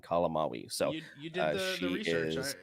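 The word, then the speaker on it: May Calamawy: Yes, and also I'm glad we brought up Layla because it is May Kalamawi is how you pronounce her name, Kalamawi.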